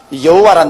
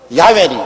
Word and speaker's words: 야훼: 바로 그 사닥다리 꼭대기 위에 야훼 하나님이 계십니다. 여호와란 말은 원래 올바른 히브리어 발음은 야훼입니다. 야훼란 발음이 우리 한국식으로 번역해서 여호와라 하는데 원래 정확한 발음은 야훼 하나님이신 것입니다.